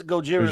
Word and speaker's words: Gojira: It's Gojira, the Gojira, original pronunciation.